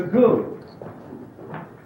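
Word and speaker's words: Gu: And the goo is spelled G-U.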